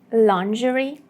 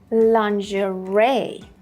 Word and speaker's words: lingerie: Yeah, and as you can see, there is no connection between the vowel sounds and the way we actually pronounce it.